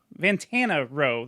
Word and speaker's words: Vantana Row: There's one I actually saw when I saw Heavy Heavy Lolo called the Vantana Row. There we go. I said it right.